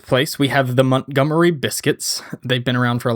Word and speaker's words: Biscuits: You got to say it like somebody from from Montgomery. The Montgomery Biscuits. Montgomery Biscuits. Biscuits. You got to put a lot of emphasis on that first I.